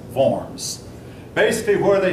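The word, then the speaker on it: Worms: that's the Concord upon forms that word is pronounced forms basically where they say that the church appoints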